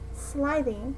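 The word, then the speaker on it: slithy: that point as well pronounce sliding as if it were the two words sly and the make a hard g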